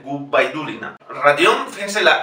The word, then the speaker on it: Gubaidulina: Safía Gubaidulina. Es importante para ellos que la B no sea V, Gubaidulina.